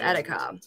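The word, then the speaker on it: Erika: Lithuanian pronunciation it's pronounced Attica which I think is like like a rolled R like a tongue tap which I love and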